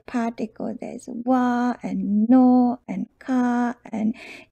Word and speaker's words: は: If you have learned hiragana already, wa particle is written as ha. If you're in normal situation, you will read this one as ha in hiragana, but when it's used as particle, it's pronounced wa.